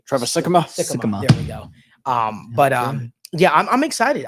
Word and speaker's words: Sikkema: I always pronounce his name correctly. Trevor Sikkema. Sikkema.